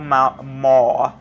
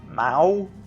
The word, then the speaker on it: maw: Big old maw. Mao? No, maw. That's how you pronounce it in Portuguese. Mao. You don't have the O sound that the English does.